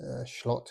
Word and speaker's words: Slot: And yes, his name is Schlott. It's pronounced S and L in German, and I believe in Dutch as well is Schlott.